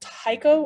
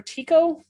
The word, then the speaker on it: Tycho: is the one called tycho or tico i've heard it pronounced two different ways but it's the brightest